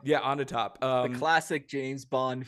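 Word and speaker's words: Onatopp: uh uh sorry is did I pronounce her name right onp onp on the top yeah on the top um the classic James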